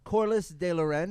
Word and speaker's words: Corlis DeLauren: that out brian gendron uh next to him corliss de loren if we're pronouncing it correctly perfectly let them know who